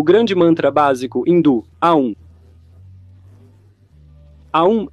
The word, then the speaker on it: Aum: Aum é geralmente pronunciado Aum. Então ele passa por Aum.